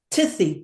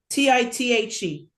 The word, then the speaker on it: tithe: Let me tell uh Shelley, tell me if I pronounced this right. Tithy. Ti t. Tith. How do you pronounce uh when you give a portion of your earnings for saddaka? Tith. Ti t h e. Oh, tithe. You tithe. Tithe. Very good.